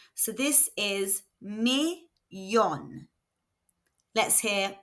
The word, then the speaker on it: millón: Remember that double L is pronounced y in Spanish. So this is millón.